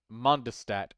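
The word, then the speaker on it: Mondstadt: It is called Monstat. Monstad. Mondistat is like the English annunciation. Monstat is the German Deutsche pronunciation.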